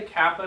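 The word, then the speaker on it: κάππα: So let's all say kappa together. Kappa. All right. Good. And it makes your K sound. there's not much else to say about it. Because it looks like a K, it sounds like a K.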